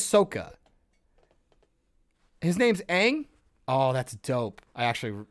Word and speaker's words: Aang: all the characters right yeah all the characters pronounce their names wrong his name is saka he says sokka his name's aang oh that's dope i actually really like that they call him ong and i want to shoot myself in the